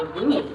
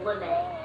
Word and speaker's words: Looney: Your name is Dr. Looney, right? Another common mistake. It's pronounced Lene.